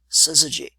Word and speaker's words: syzygy: g check it out six letters three syllables and quote no traditional vowels syzygy so consider what do